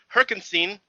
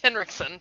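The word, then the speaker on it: Henriksen: Uh Kirchek, voiced by Lance Herkinstein. Am I hoping I'm pron I I am not pronouncing that right? I know I'm not. You are not. Is Lance Henrikson.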